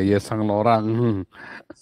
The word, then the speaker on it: Yves Saint Laurent: Ya, kenapa bacanya apa itu? Yes Saint Laurent ya. Yesan Laurent, maklum orang kampung kita yang ngomongnya Saint Laurent. Yesang Laurent ya, baca Yesang Laurent.